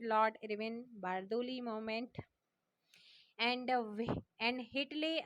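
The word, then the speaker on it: Whitley: And Hitley आयोग, W silent रहता है.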